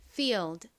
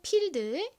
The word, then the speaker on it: field: field 한번 해 볼게요 field 좋습니다 가장 앞에를 좀 세게 발음해 주셔야 돼요 한국식으로는 필드 하지만 실제 발음은 feld